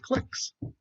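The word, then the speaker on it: cliques: And then, oh gosh, let's find, are there any clicks in there? And we use the command clicks, or some people pronounce it clicks, but looks like a click to me.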